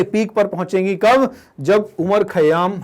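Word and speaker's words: Omar Khayyam: का क्रेडिट जाता है उमर खयाम। तो उमर कह दें, या इनकी स्पेलिंग में OMAR भी आ जाता है, उमर खयाम।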